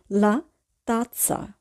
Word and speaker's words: la tazza: এখানে তাৎসা বানানটির দিকে খেয়াল রাখবো, ডবল জেড এ অর্থাৎ জেতা জেতা আ আছে। এখানে কিন্তু প্রথম জেটের উচ্চারণ হবে খণ্ডতয়ের মতো এবং দ্বিতীয় জেটের উচ্চারণ হবে দন্ত শয়ের মতো। তাহলে আমরা উচ্চারণ করব লা তাৎসা।